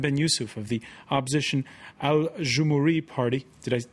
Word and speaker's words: Aljoumhouri: Adnane Ben YOUCEF of the opposition Aljoumhouri party. Did I pronounce it correctly?